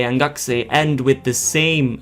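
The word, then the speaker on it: 学生: Whereas a student would be gakusei, gakusei, gakusei. Now, you may be able to notice that both sensei and gakusei end with the same sound, so it ends with se.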